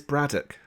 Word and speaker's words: Braddock: No, the answer is Braddock. Yeah, because if you say it with an English accent, like haddock. Braddock. Well, how do you say haddock? I didn't. Haddock. It's the same. It's Braddock, like haddock.